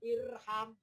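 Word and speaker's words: ارحم: Kalau huruf ketiganya fathah, alifnya tidak ikutan fathah, tapi tetap kasroh. Maka bacanya irham.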